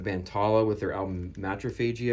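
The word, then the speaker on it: Matriphagy: We have the band Tallah with their album Matrophagy, I believe is how you say it.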